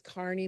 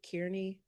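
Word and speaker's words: Kearney: um 2025 hireability employer it's Carney but I'm sure it's not that is it Kierney Kierney Park compound I knew it I knew we said it wrong in Springfield Missouri um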